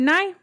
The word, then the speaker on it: Nye: say his name right it's not me is it is it nigh okay i looked it